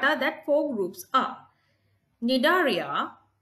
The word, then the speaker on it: Cnidaria: Cnidaria, C is silent here, Annelida, Mollusca and Arthropoda. The first group is Cnidaria. The animals belong to Cnidaria are predators and they live in water.